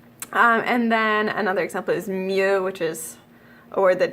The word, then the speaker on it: mieux: Just ignore the X. It's just mieux.